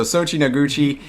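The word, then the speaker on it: Soichi Noguchi: you i thought you had a hard time pronouncing it yeah no no no so sochi noguchi uh and so the first the the one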